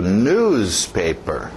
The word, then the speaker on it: newspaper: Continuando, o próximo, cuidado com o ritmo, batida no início. Newspaper, newspaper, newspaper.